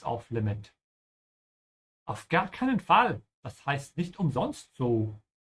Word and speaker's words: Fall: And for all of you native English speakers out there, please pay special attention to the sound of the a. Don't pronounce it like an English fall. Ja, Fall.